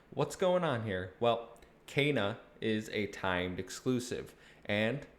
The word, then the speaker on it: Kena: taking a look at kana bridge of spirits developed and published by ember labs right off the bat yes it's pronounced kana not kina as confirmed in the actual game when she you know